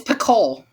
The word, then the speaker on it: Picoult: It's Picoult. Picoult. You don't pronounce the T. It's French.